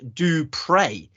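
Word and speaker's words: du Preez: in his name is spelt p-r-e-e-z but it's pronounced do pray which is very appropriate because he is a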